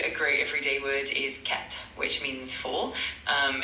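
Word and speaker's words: quatre: For Q, a great everyday word is cat, which means for.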